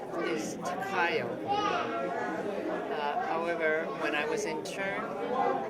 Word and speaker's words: Takayo: Well, do you want to just spell it for me? My name is Takayo.